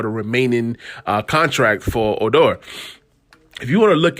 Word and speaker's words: Odor: ragnard odor it's spelled o d o r odor but it's pronounced odor but uh either way you know